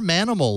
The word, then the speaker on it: mnml: learning my friends Wow minimal launcher or Manimal launcher if you really want to play around with how it's pronounced that's up to you minimal been a minimal it's actually minimal you